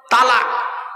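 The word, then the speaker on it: طلاق: বিভিন্ন কারণে হোক ডিভোর্স দেয় আরবিতে একটা শব্দ উচ্চারণ করে কি বলে তালাক কি বলে তালাক জোরে বলুন তালাক আরে বউ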